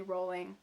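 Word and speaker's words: Rowling: to say her last name I've been saying rolling it's actually rolling but she doesn't care anymore help you pronounce her name fun fact so she wove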